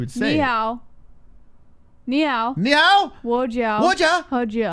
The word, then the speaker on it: Ni hao: Ni hao.